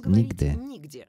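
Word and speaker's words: Niğde: for the Russian ear, Nigde, or nowhere in Russian, although, of course, it is just pronounced as Nigde.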